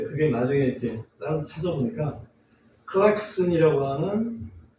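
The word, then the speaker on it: Klaxon: 근데 그걸 우리 아마 일본식으로 발음하지 않았을까 싶고 크락션 해가지고 클락션하고 크락션하고 좀 발음이 연관이 없는데 비슷하긴 하지만 발음이 너무 차이가 나서 그래서 그런 거였구나.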